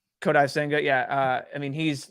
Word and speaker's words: Kodai Senga: I think even someone needs to tell me how to pronounce his name. The Japanese guy to the Mets. I think it's just Kodai Senga. Kodai Senga, yeah.